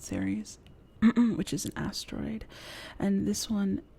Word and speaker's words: Ceres: tarot virgo and ceres i think it's pronounced series which is an asteroid